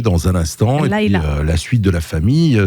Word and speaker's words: Layla: Ah, Laïla, Ah oui, bah oui, oui, c'est Laïla.